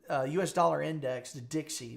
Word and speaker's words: DXY: The dollar the the dollar uh US dollar index the Dixie. We call it Dixie. It's spelled DXY.